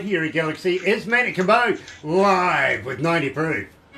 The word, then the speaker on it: Cabo: It's just it's so, you know, different country-ish, because it's Manny Cabo, like Cabo St. Lucas, Cabo Rojo, like Cabo, corn on the cob.